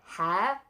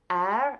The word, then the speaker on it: heir: okay this is the stolen hair air I always say it wrong air I think by Holly black now